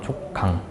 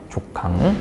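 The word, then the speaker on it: 족강: 분 여기 잠깐만 써볼게 발음을 여러분 된소리 하시면 안 돼요 된소리 강하게 하면 안 돼 강이라 강 강 알겠죠 빨리 하시거나 세게 발음 조강 조강 응 그래서 뚝 떨어진다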